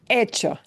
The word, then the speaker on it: echo: Hecho. Yeah, hecho. It looks like echo, the spelling of the English word, but it's pronounced hecho.